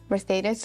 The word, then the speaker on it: Mercedes: being with us um merthus if I'm saying it right yes and I think you're saying it right yeah because there is I have to say it in a Spanish way yes thank you again